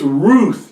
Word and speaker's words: Ruth: It's Ruth. You can't pronounce Ruth with a W sound or a V sound. You can't even pronounce it. And so Ruth was pronounced with the oo sound.